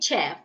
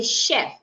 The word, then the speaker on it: chef: So I would not say chef. Rather, I should say chef.